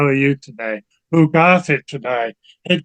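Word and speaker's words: todæg: e g and it you might think oh that must be to but it was actually pronounced today today and if you know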